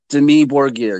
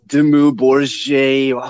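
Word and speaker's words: Dimmu Borgir: I'm going to talk about Demi Borgir. Yes, I'm calling it Demi Borgir. I know it's Demu Borgir, whoever the I don't care. I'm saying it wrong.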